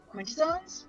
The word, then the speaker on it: Quintessons: The third party, not on one side or the other, but a bounty hunter for Quintessons?